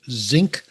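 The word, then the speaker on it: Xinc: So you are a co-founder of a company called Zinc Global, and that's spelled X-INC.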